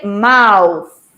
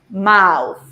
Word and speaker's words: mouth: very good memory mouth listen to the pronunciation yeah because this th sound is a sound that we don't have in spanish yeah so it is like this you put your tongue your the tip of your tongue under your teeth like this yeah so you say mouth mouth very good so it's